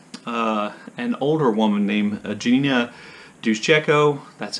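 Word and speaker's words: Duszejko: The main character of the novel, an older woman named Eugenia Duszczyko, that's how I'm pronouncing her name.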